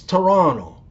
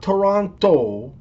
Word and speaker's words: Toronto: and FYI or BTW it's Toronto not Toronto the t is silent and it's Detroit not